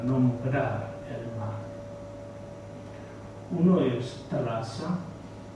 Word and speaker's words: Thálassa: el mar uno es talasa con acento en la segunda y talasa en griego